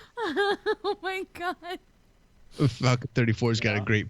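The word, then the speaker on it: Geaux: You know, that's just like how when like people say go, but it's spelled like GEUAX or whatever. LSU fans. Yeah, when Weirdo. they're like go and you're like, but there's an X in there, and all these other letters, Unless it's Van Gogh.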